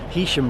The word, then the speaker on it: Heysham: Heam rhymes with key.